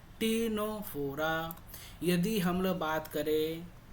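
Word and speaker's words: Ctenophora: यहां पे फिर सी साइलेंट होता है। यहां फिर क्या टी साइलेंट? यहां टीनोफोरा बोला जाता है।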